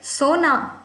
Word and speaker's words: सोना: And the next one is sona, to sleep. Mujhe sona hai. And that's pronounced मुझे सोना है.